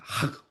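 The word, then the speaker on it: חג: 하 이것은요 목을 긁는 소리를 냅니다.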